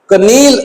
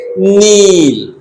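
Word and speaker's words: kneel: नो के को अंदर ही रख लेना है और एन ओ डब्ल्यू को बोलना है नाउ नाउ नील कनील नहीं बोल सकते हम इसे हम बोलेंगे नील यहां पर हम बोलेंगे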